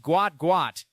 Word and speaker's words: Gout Gout: His name pronounced Gout Gout, named in the tradition of his South Sudanese heritage where a name is repeated for emphasis and identity.